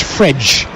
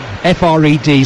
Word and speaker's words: Fred: somewhere this week that the correct pronunciation of his name is fridge yeah too late I'm afraid f r e d spells Fred in England